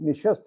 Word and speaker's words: نشست: تابش صاحب نے جواب دیا، میں دلی کا ہوں لیکن یہ لفظ فارسی کا ہے اور اس کا صحیح تلفظ نشست ہے۔ اس جواب پر مجھے